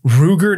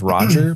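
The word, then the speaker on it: Rugor: that Ruger roll that I kind of want to pronounce it as Roger but I know that's not right Roger nass it's Roger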